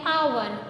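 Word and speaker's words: hour: नाउ एन आवर because यहां पर H silent है।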